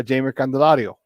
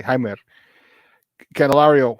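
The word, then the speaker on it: Jeimer Candelario: right before it they acquired third baseman uh jamer candelario Jaime just trying to say it properly hi canelario from third baseman he was part of the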